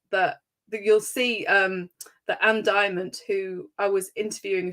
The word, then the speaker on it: Diamond: video from, now I'm going to pronounce Anne's name correctly this time, Anne Diamond. So I was calling it Anne Dimment, which is totally incorrect.